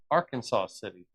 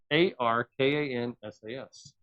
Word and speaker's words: Arkansas City: It's spelled A R K A N S A S, but it's not Arkansas City. It's R Kansas or R Kansas. They pronounced the Kansas.